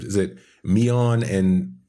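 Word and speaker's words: Miyeon: I'm pretty sure though it is Yun instead of Yun, like Yan. I think it's Miyun and Soyun.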